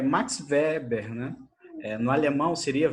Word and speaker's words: Weber: Ó, então esse daí é Max Weber, né? No alemão seria Weber. O ER tem som de AR, né?